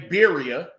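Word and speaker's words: birria: it is I said even when you say bira which is the con correct pronunciation con connect you know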